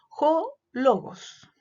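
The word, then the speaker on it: ὁ λόγος: Entonces, por ejemplo, cuando logos está con función nominativa, yo digo jo logos.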